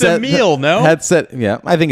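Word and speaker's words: Émile: So it's Emile with an accent over the first E, and now you say it?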